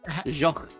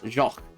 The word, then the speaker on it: Jacques: The French name, Jacques. Jacques. Oh, Jacques. It's just, I think it's actually just Jacques. Is how that's pronounced.